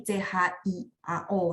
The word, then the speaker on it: 巧: Q dia bacanya CH, jadi CHIAO ya, 技巧巧啊，巧，对，lanjut。